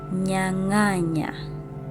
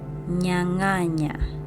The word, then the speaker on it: nyanganya: So nyanganya, nyanganya. So these are 3 syllables.